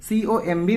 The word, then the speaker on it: comb: COMB में बताइए क्या नहीं बोला जाता। तो यहां पे B साइलेंट है, तो देखिए D ऑप्शन इसका सही हो जाएगा।